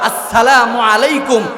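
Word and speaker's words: السلام عليكم: আসসালামু আলাইকুম ওয়া রাহমাতুল্লাহি ওয়া বারাকাতুহু। আসসালামু আলাইকুম, এই যে শুরুর হামজা এবং শেষের যে মিমের পেশ আসসালামু, এই শব্দটা ভালোভাবে উচ্চারণ করতে হবে।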